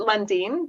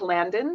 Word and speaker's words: Landin: We pronounce it Landin, but it looks like Landin. So either one is fine.